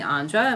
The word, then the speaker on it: Andra: really have from him so he called me Andra which means the man and my father had